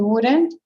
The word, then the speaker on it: would: We wouldn't. We actually don't pronounce the L, right?